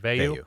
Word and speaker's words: Veilleux: The pairing of Phil Jerkovic and Christian Veilleux, is that how do you pronounce it? Veilleux, yeah.